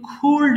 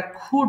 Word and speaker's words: could: এটা কিন্তু খুল্ড হবে না, এটা খুড হবে। অনেকে ভুল করে খুল্ড বলে ফেলে।